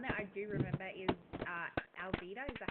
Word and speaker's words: Alvida: But the one that I do remember is Alvida. Is that how you pronounce it?